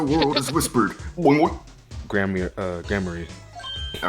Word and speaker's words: Gramarye: something test right now it's pronounced grammary okay all right then